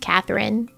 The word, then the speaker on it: Quatherin: with the Q, because it's supposed to still be pronounced Catherine, just with a Q.